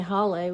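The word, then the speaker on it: hale: tutu but they wouldn't were not sure how to say Holly which is h-a-l-e and so I thought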